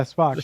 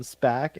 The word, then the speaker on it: Spock: Or as I Oh said, yeah, Spock. He, that one time on this lawn where I called him Spack and Krista lost it. Spack. It's kind of a that Shatnerian picture of mispronunciation.